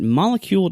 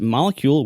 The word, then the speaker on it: Molekule: your first order visit molecule. comom and and it's spelled just like the word molecule but if you replace the C with a K so it's m o e kle e so for $75